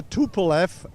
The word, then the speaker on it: Tupolev: How do you pronounce that name? That's a TupleF A3.